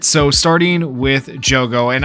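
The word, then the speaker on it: Jogo: right so starting with Joo and I just realized I've been saying his name wrong like the entire time I've been saying Jugo so I apologize to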